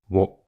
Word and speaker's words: を: a modern Japanese although some people still pronounce it as wo I eat in Japanese